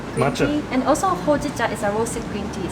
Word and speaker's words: Hojicha: Hojicha. Hojicha, which is a roasted green tea.